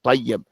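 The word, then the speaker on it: طيّب: Here's the shadda on top of the ya and tayyib.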